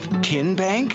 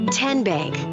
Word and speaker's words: TN Bank: you enroll wildcats roll how do you say the name tn bank nope tin bank uh-uh so what is it 10 bank 10 as in tennessee right here where all